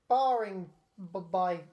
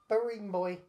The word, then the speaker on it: Barringby: I can't pronounce this person's name. Hugh Hawks Barring by Barring Boy.